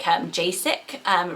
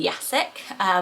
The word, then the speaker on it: Jacek: used this name, but they had used the J as a J, like Jacek, rather than Jacek, which is a bit difficult to travel as much, I would say, because that letter is used very differently.